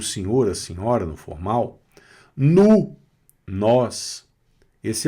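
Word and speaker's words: nous: Não pronuncia esse s, hein? Vu. Vocês ou senhor, a senhora no formal? Nu.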